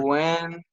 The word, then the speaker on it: Gwen: Jake, Wan, sorry. That's not my name, sir. Wan. Gwen. Okay. Yeah, you said it right, Jacob.